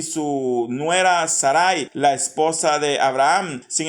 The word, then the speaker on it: Sarai: Ahora dice que Abraham se casó con Sarai, que Sarai es Sara, la que conocemos nosotros como Sara, pero según la NBI se pronuncia como Sarai.